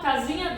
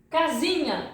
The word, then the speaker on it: casinha: How do I pronounce this? This pronunciation is equal. I think you know. I'm gonna make you a little bit hungry now. You know lasagna from the Italian? Yeah, pasta. So tasty. Lasagna. It's the same as an H in Portuguese. Lasagna. You see? Or if you speak French, you have mignon.